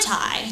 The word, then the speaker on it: Ti: it is pronounced TI Tai like two ties great um so anyways